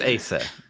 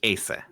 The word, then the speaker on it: Asa: It's Asa. Like that name is pronounced Asa in Japanese.